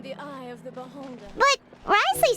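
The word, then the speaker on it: Wriothesley: to do something the of the beholder but Risley said he never resented you right isn't that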